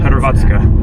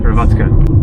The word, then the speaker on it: Hrvatska: Because it's like Hrvatski or something? Hrvatska. Hrvatska.